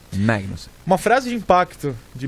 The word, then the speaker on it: Magnussen: Kevin Magnussen, porque ele fala Mag. Você que é dinamarquês sabe melhor do que eu a pronúncia. Magnussen.